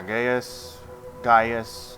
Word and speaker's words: Gaius: Yeah, Gaius, I think is how it's pronounced.